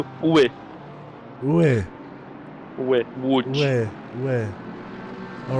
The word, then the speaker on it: Łódź: Łódź. Łódź. Yeah, almost. So that is like a W. The L with the strike through is like a W. Ły. Where? Łódź.